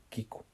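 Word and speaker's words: きく: en el Nuevo Testamento en japonés las palabras sentir u oír y escuchar se pronuncian de la misma manera kiku pero se diferencian claramente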